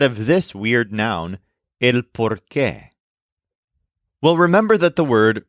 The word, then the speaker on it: por qué: The noun por qué is spelled exactly like the conjunction porque, which means because, except that this noun has an accent on the E at the end. So it's pronounced differently.